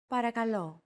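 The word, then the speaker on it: παρακαλώ: accentuated in Greek so make sure to stress that final syllable with the accent mark repeat after Chrissy since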